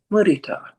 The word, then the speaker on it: mudita: So Andy said, please ask people to say mudita, because that's the Pali pronunciation of it.